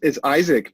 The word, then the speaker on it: Isaac: It's Isaac, but I love how you're saying it. It's awesome. Oh, okay. So now you heard the Icelandic pronunciation of it.